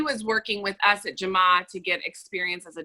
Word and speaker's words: Jamaa: And how do you spell that, and where is it located? It's Jamaa.